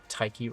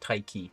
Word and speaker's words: Taiki: They pronounce it Taiki. I literally have it wrote in my script when I'm talking about them in quotation marks, Taiki, because I kept pronouncing it. I kept pronouncing it Taik, and it's Taiki.